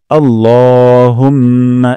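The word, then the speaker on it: اللهم: করে চলি তারপরের অংশ আল্লাহুম্মা এখানে লক আলিফ টান দিব লা বলবো না ল উচ্চারণ করব আল্লাহুম্মা হে আল্লাহ তারপর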